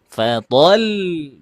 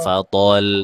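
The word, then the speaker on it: فطل: Fatol jangan fathol. Jangan. Beda antara lam sukun gini. antara lam yang disukunkan eh diwakafkan karena sukun dan lam yang diwakafkan karena tasdid itu berbeda caranya bacanya. Yang satunya fatol, yang satunya fatol. Tuh kan ulangi.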